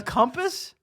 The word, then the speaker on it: compass: Oh, like a compass?